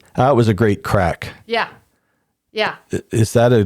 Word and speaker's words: craic: So the crack, the Gaelic word crack, is spelt CRAIC.